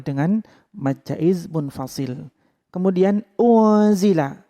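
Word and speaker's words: أُنْزِلَ: Kemudian unzila, ada nun sukun bertemu za, itu dinamakan bacaan ikhfa. Cara membacanya dengan didengung 3 ketukan.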